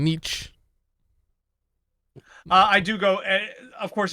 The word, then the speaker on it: Nietzsche: pronounce it, it's Me just too. Nietzsche.